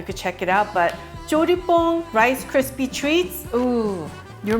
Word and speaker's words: Pong: In English, people pronounce it as Jolly Pong, but it's Pong.